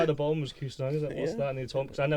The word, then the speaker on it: Kusanagi: People didn't know what to say, or people called us Kimanagi and things like that. From things like that, random stuff. Kusanagi, Angangi, random stuff. But over time, people got to pronounce it right. I think as we got our music out there and we played around the country and stuff, people were oh yeah, it's Kusanagi. Kusanagi, it kind of works.